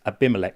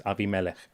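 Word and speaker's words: Abimelech: some people pronounce this AMC, but that's not not correct. It's it's a Hebrew word. It's Aviamelik.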